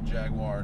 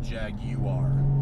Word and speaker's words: Jaguar: also it is pronounced Jaguar not Jaguar because the word is from Portuguese not from the queen's English look it up people